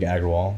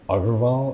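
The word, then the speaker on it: Agarwal: my name is Argawal and actually that's not how you say my last name but like no one how do you say it's like i think you say like author of all but like you think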